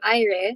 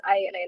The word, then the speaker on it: Aire: So I'm Aire. So it's pronounced as Aire, not Air or anything.